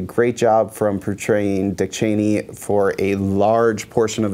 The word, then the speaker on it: Cheney: that the members of the Cheney family actually pronounce their name Cheney, which I'd never heard before, and I'm shocked, and they certainly don't go out of their way to correct people.